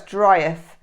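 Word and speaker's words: dryth: I think that's dryeth. D-R-Y-T-H. It's a good dryeth, meaning it's good drying weather for wet clothes.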